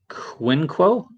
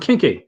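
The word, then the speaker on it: Quinqui: um so we got quinquo i probably pronounced all right i do apologize but i'm not spanish it means the link one right yeah and pronoun oh kinky oh it's pronounced kinky there we go kinky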